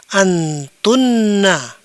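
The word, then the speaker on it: أنتن: Kemudian ini dibaca antum kalian laki-laki, antunna kalian perempuan.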